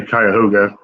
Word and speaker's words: Cuyahoga: the same county and they pronounced it i think correctly and i was like i was nowhere near i wouldn't know where to hear that that's actually cuyahoga heads together we